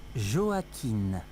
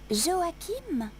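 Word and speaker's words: Joaquin: બ je m'appelle joakine comment ça s'écrit j o a Q u i n Joakim non Joakin avec un N m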